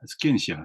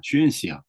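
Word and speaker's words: scientia: 그러니까 필로소피아라는 말은 그 지금으로 쓰면 스켄시아, 슈엔시아, 이제 그러니까 고전 라틴어 발음으로 하면 스켄시아가 될 것이고, 뭐 교회 라틴어 발음으로 치면 슈엔시아가 될 것인데, 사이언스, 그죠?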